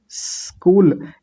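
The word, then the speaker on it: school: तो इ नहीं लगाएंगे। कैसे बोलेंगे? स्कूल।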